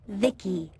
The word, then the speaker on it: Vici: transistors by the way i'm vici pronounced vicky my creator was vivisecto